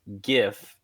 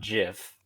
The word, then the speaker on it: GIF: character's direct opinion that it is pronounced GIF, not GIF, and it is spelled GIFF. And then, as for my